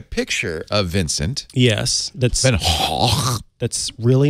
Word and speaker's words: van Gogh: Actually not even Gogh. It's Hoch. Hoch? Van Hoch.